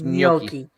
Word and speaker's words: gnocchi: this yeah and just you don't pronounce the g in gnocchi right is it it's gnocchi potato stallion ganache ah